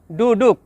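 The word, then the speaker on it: duduk: শব্দটি লেখার সময় লেখা হয় ডুডুক, তবে এর সঠিক উচ্চারণ হবে ডুডু।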